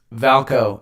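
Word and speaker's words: VAALCO: uh egy is Valco how do you say it when it's got two A's um valko egy is my bank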